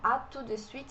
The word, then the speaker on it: à tout de suite: Aqui no à tout de suite a gente não fala o T.